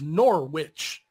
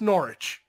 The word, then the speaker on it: Norwich: how it's spelled is Norwich Norwich but it's Norwich yeah the W is silent and I'm like Americans